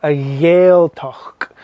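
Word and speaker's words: Gàidhealtachd: region alrighty so a yael talk there's a bit of a k sound at the end i'm making it emphasizing it making a bit stronger now so you can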